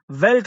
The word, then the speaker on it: veldt: ये एक ऐसा अंधेरा था ऑफ अ वेल्ट fire. वेल्ट कहते हैं जी एक वुडलैंड, जंगल में जैसे आग लगी हो उसको हम कहते हैं वेल्ट. मीन्स यहाँ पे फॉरेस्ट है. VELDT. इसमें डी शायद साइलेंट होगा.